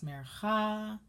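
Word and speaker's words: מֵרְכָא: As I mentioned before, 90% of Hebrew has the accent on the end of the word. And all of these trope names are as such.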